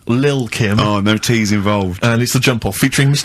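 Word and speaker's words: Lil' Kim: Now, Steve, I see there it's a track by Little Kim. But how are you pronouncing it? I'm pronouncing that correctly. Lil Kim.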